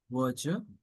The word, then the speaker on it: verdure: I repeat, the pronunciation of this word is verger, which means the fresh green color of lush vegetation.